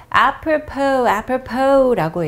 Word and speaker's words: apropos: 자, 두 번째 것도 발음을 잘 하셔야 되는데 마지막 s가 silent sound입니다. 그래서 apropos라고 얘기를 하고 s를 발음을 하지 않는데요.